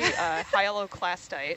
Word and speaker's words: hyaloclastite: Hyaloclastite. Hyalo. I missed a syllable.